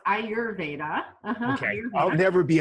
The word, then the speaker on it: Ayurveda: So it's pronounced Ayurveda. Okay. Ayurveda. I'll never be able to say that. Oh, you should. Ayurveda.